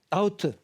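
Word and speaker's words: doubt: 그러니까 의심이라는 말로는 나우트요 발음 조심하셔야 돼요 b는 발음이 없습니다 그래서 아우트 의심하다 의심 라우트가 의심하다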